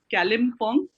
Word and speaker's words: Kalimpong: I'm very finicky about the names, and it's Kalimpong. I might be pronouncing it like a little weirdly.